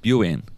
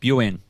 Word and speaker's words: 病院: And one final point on this, listening to that clip again, my pronunciation of Buin is terrible. まあ難しいのかしら病院。 Can I, okay, I'll say again, Buin.